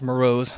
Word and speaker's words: Morose: Okay, first it's pronounced Morose, not Morris, but A for effort, I suppose.